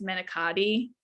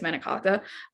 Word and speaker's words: manicotti: wonderful idiot oh so medicate is that's like the american way that people will say it is manicotti and that's not how you say it's menikaka um but that's the